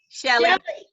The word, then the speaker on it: Sheli: format and uh so nice to meet you sheila how do you say your name again shelly okay all right and christine yes you guys